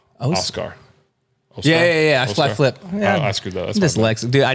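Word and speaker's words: Oskar: Ozark Blues yeah okay no no not Ozark yeah Oscar like o-s-k-a-r oh yes I'm probably pronouncing that wrong per the usual but yeah it's definitely not Ozark oh scar yeah yeah flat flip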